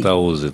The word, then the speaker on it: Fantauzzi: É assim a pronúncia? Fantauzzi? Fantauzzi, tá certinho.